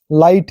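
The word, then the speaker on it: light: पहले देखते हैं जीएच जीच जो साइलेंट रहता है देखिए हाई है यहां पे जी एच साई है यहां पे थाई है जी साइलेंट हो गया तो चलिए जी एचटी वाला देखते हैं लाइट है देखो जी एचटी लास्ट में आया है लेकिन टी जुड़ गया है लाइट है जी साइलेंट टी पढ़ रहे हैं वैसे ही नाइट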